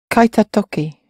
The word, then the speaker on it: kaita toki: Yeah, and just be careful with how you're pronouncing. We've moved from the te form when I'm talking about the ta form. Kaita toki.